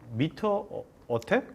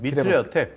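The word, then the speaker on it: MITRE ATT&CK: 자, 이 미터 어택? 뭐라고 읽습니까? 미트렉 어택입니다. 미트렉 어택.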